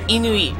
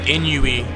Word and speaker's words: Inui: Like, it's Japanese, so it's Inui. Okay, it is like, Inui. Okay. Because I hear people say, like, Inui. Inu. Like hard pronounce the U.